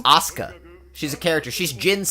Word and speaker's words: Asuka: Just like they call Asuka Oscar. Her Who? name's Asuka.